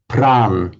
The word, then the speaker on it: Prana: That is why you would hear Hindi and Marathi speakers talking about Buddh instead of Buddha, Pran instead of Prana, Vihar instead of Vihara, and so on.